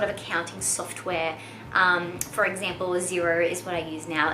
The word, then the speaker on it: Xero: For example, Xero is what I use now. It's spelled Xero, and it is an accounting software.